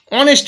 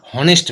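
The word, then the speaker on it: honest: দেখো অনেস্ট ম্যান, আমরা কেউ বলি না হনেস্ট ম্যান, অনেস্ট, তাহলে এইচের উচ্চারণ হচ্ছে না, তাই কি হচ্ছে, অ্যান।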